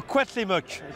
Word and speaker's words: Cuauhtémoc: Je vais te laisser prononcer son nom. Ouais. Ça a l'air très compliqué. Alors c'est le Cuauhtémoc.